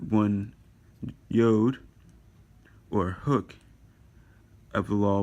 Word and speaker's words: yod: Yod is how you pronounce it. You'll hear yod. You'll hear some other pronunciations too, but it's originally pronounced yod in Hebrew.